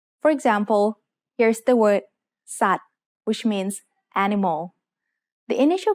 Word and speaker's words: สัตว์: Then, at the end of the word is the letter วอแหวน with การัน written above it. This means วอแหวน doesn't make any sound in this word.